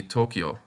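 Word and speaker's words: 東京: You can probably tell that this is the city Tokyo. When the Yo kana is written small like that next to the Ki kana, it is pronounced Kyo instead of Kiyo.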